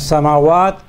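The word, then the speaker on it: سماوات: In the same way as samawat, the alif is placed after the meme, so we pronounce both the meme and the alif.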